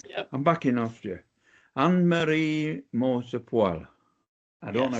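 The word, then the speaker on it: Moser-Pröll: Annemarie Moser-Proll. I don't know how to pronounce. Is that right? Do you understand? Moser-Proll, if I do the proper German.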